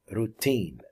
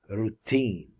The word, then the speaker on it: routine: its routine routine agenda routine the stress is on the second syllable so it's a routine routine agenda of unifying